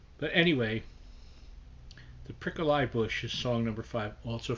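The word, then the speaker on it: Prickle-Eye Bush: five as they pronounce it's spelled the prickly bush but they call it the prickle eye bush i love that and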